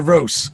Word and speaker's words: Roos: name correctly sir roast Roose everybody says it one way or the other how do you say my family's roast roast good so I want to